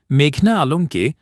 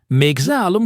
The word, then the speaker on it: মেঘনা আলম: এ সময় মেঘনা আলমকে মেজা আলম সম্বোধন করায় শুনানিীর এক পর্যায়ে আসামী মেঘনা তার নাম ঠিকভাবে উচ্চারণ করতে আইনজীবীকে অনুরোধ জানান। তিনি বলেন আমার নাম মেঘনা আলম মেঘনা নয়।